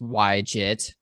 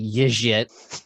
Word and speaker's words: YJIT: It's pronounced YJIT for anyone wondering. My friend and buddy Jason Charnes likes to pronounce it Yijit or however it is, but that's not true. The Shopify team at RubyConf told us that's absolutely not how it's pronounced.